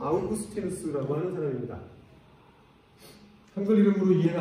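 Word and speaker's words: Augustinus: 어거스틴이라는 이름으로 더 유명합니다. 한국 교회에 원래 영어 발음으로 소개가 됐기 때문에 어거스틴이라고 하면 대부분 다 아시고요. 요즘은 이제 원래 라틴어 발음으로 발음을 해주는 추세이기 때문에 이름이 영어로 바뀌었죠.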